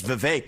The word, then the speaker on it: Vivek: My name's Vivek. It rhymes with cake.